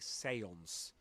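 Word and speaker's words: séance: A seance actually seance.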